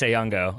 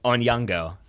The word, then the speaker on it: Onyango: Okay, or Dennis Onyango. Or, sorry, Onyango. Mispronunciation there. So tell me about your